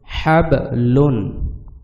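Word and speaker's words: حَبْلٌ: যদি আপনারা হাব বলেন তাইলে এইটা প্রপার উচ্চারণ হবে না। যেহেতু বায়ে জজম রয়েছে এবং বা কলকলার হরফ, সেহেতু বাটি কলকলা করিয়া পড়তে হবে।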